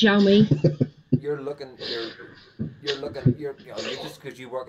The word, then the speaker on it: Xiaomi: It's pronounced Xiaomi.